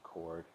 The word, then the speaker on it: chord: the circle one type is called a chord pronounced k-o-r-d chord it's got a c-h in it students will